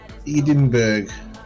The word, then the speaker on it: Edinburgh: left I can see edinberg in the different different distance even ah capital city of Scotland Edenberg that's right is it the way you say mberg that's the American pronunciation oh that hurts that's